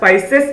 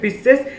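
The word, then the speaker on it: Pisces: Class Cyclostomata, class पाइसेस या फिर पिसेस, कुछ भी कह लो वैसे।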